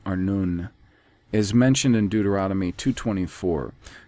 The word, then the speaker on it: Arnon: population the river arnon a-r-n and he leaves out the oo it's a-r-n-u-n arnoon is mentioned in deuteronomy